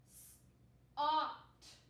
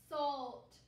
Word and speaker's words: salt: say the l sound let's see if that changes it can we try ah salt salt is salt a word